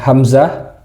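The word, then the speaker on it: همزة: Lalu yang selanjutnya adalah hamzah. Hamzah. Seperti biasa ucapannya sangat ringan.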